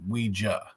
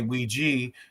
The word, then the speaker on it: Ouija: It's a common question I get, and the brand itself is pronounced Ouija. But you're not wrong if you say Ouija, because if you ask